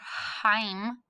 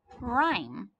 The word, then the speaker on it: rhyme: What is my silent letter? I don't hear the H. I don't read it heim. I read it rhyme.